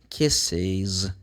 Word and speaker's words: kisses: So if the verb ends with those sounds, so you need to be careful because you have to add one more syllable. We're going to put is, as you can see here in the example. He kisses.